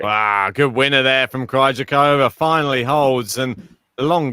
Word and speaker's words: Krejcikova: Look, how to say we've been saying Krejcikova's name wrong. Oh no. The stress is on the I. Not Krejcikova. Krejcikova.